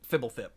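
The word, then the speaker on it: Fblthp: It is actually Fibblethip. Yeah, that's how Mark Rosewater pronounces it on his podcast when he happens to mention it.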